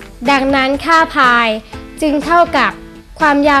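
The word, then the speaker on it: π: ได้ ดัง นี้ ซึ่ง เป็น ภาษา กรีก อ่าน ว่า ภาย ดัง นั้น ค่า พาย จึง เท่า กับ ความ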